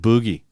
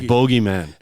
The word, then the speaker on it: Boogeyman: Is that he doesn't pronounce it boogie. He sings it bogeyman. And it bugs me. I can't get past it. It's Australian.